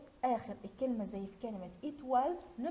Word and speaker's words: étoile: O plus I se prononce wa. Étoile. Étoile. E à la fin, silencieux.